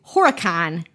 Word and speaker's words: Horicon: Oh, and you say it like you're not from Wisconsin. If you're from Wisconsin, you say Horacan.